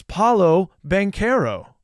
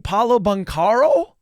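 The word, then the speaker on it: Paolo Banchero: in the comments because Why can't your announcers pronounce Paulo benero it's they were saying Paulo banaro come on but khil we holy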